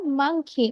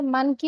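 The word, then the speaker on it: monkey: এম ফর মাংকি। আমরা এটাকে মানকি উচ্চারণ করব না, ঠিক আছে?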